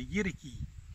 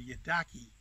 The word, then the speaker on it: yidaki: traditional name is a yeti key some white people will call it a year ducky but the Aboriginal pronunciation is Yeti key in order to understand